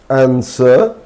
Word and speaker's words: answer: There are also a few random words. We must learn them with a silent W. For example, answer, sewed, two, number two. So here W is silent in these words also.